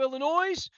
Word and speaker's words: Illinois: First of all, the S in Illinois is silent.